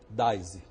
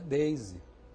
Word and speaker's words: Daisy: nome dela não Chico o meu nome não é dais meu nome é Daisy ele falou ah mas